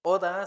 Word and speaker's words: 오다: Entonces, oda se dice venir.